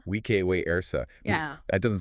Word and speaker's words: vice versa: How would Caesar have pronounced vice versa? He would have said, we ek we ersa. Vike we ersa.